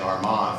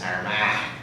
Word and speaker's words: Armagh: And we're staying in Armagh, or as my wife from County Cork makes fun of me for saying Armagh, for them it's Armagh. So if you want to throw your cheek up and say it like that, that's the way they say it in the south of the country.